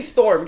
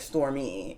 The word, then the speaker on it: Stormé: um and it's also it could also be storm because I heard her pronounce her name storm delivery um but then when somebody else was like stormy she was like yeah yeah whatever um sorry remember that